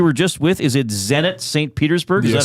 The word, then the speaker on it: Zenit Saint Petersburg: Is it Zenit Saint Petersburg?